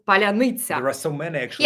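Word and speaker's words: паляниця: But the idea is that only a Ukrainian can say this word properly, palyanitsa. And when Russians try to say this, they would say palyanitsa. And like there are many different pronunciations. They just can't pronounce it right.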